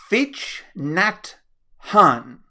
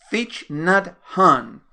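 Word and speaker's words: Thich Nhat Hanh: quote that comes from and I hope I pronounce his name correctly Fitch gnat hon Fitch not hon and he was a Zen master he was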